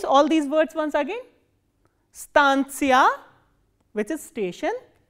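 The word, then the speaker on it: станция: And the stress is on a. So, that you have to keep in mind. This is stantia, stantia, stantia.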